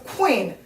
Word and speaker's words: queen: 그 다음에 Q 발음은요. 약간 우 이런 느낌으로 이런 느낌이에요. 그래서 queen 이렇게요. queen 해서 약간 장으로 길게 연결해서 간다라고 생각하시면 돼요. 그렇다고 너무 띄어서 queen 이렇게 하시면 안 되고 queen이라고 naturally 연결해 주시면 돼요.